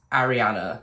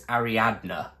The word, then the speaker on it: Ariadna: said the name wrong so i said it was ariana but it's ariadna either way it's a